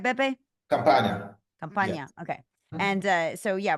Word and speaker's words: Campania: Campania. Yes. Okay. And so, yeah, we're going to head down into the southern region, right? Yes. All right, in the boot. So tell us a little bit about Campania.